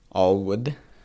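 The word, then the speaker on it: ALWD: w a l WD I think it's Allwood is how they pronounce it as the acronym uh and then you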